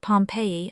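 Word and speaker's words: Pompeii: They pronounce it Pompei.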